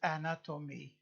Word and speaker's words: anatomy: automobile anatomy what is anatomy anatomy one two three four syllables stress on the second anatomy from late latin